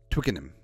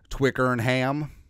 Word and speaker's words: Twickenham: the English pronunciation over so it's Twickenham probably probably uh or as us Americans would say twicker ham Twickenham actually Twickenham sounds